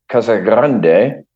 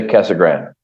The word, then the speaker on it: Casa Grande: the city uh officially K Grande so it's Spanish and and you have you roll the r but a lot of the locals just say Cagan there's no e on it it's just Cagan so if you if